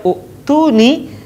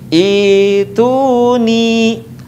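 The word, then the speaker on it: ائتوني: Tetapi Al-Ahqaf ayat 4 tidak dibaca u'tuni, tetapi dibaca ituni.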